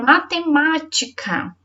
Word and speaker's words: matemática: então em sílabas matemática qual é a sílaba mais forte matemática então já sabe que é uma com acento é o segundo male